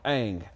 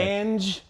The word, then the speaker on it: Ang: I'm Ang. A-N-G. Yeah, it was never Not said. Ange. Angie, it's Ang. Yes, pronounced like the last airbender.